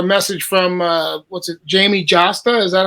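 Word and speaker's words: Jamey Jasta: got a a message from uh what's it Jamie josta is that how you say his name yeah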